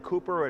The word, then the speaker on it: Cowper: writing partner, was William, I think they were saying Cooper, it's spelled Cowper, C-O-W-P-E-R.